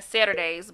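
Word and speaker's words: Saturdaze: And then Saturdays, but it's spelled S-A-T-U-R-D-A-Z-E.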